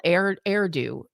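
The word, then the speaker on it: Erdő: And um Cardinal Erdo, it it is it rhymes with hairdo.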